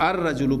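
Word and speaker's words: الرجل: या शमसी हर्फ है ये शमसी हर्फ है लिहाजा इसको हम अर रजल पढ़ेंगे अलिफ लाम का लाम प्रोनाउंस नहीं होगा और डायरेक्ट वो जो हमजा है वह रा के साथ मिलेगा अर रजल रजल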